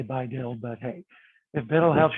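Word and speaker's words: BiDil: Biddle rhymes with little. Equally stupid, but again, if it helps you remember it, then use it. I don't say Biddle, I say Bi-Dil, but hey, if Biddle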